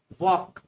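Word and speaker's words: walk: Fifth है वॉक, इसमें L silent रहता है।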